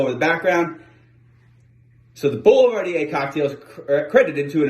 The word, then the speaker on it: Boulevardier: town or part of the bond and it's pronounced boulevardier the recipe first appears in a volume called